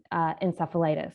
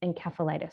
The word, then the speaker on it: encephalitis: lot of words and one of those words is encephalitis which i use a soft sea but um the proper way of saying it uh from the greek uh encephalose meaning brain is encephalitis so i apologize as